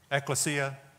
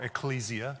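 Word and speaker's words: ekklesia: every time you see that word eklesia or Ecclesia depending how you want to pronounce it where we get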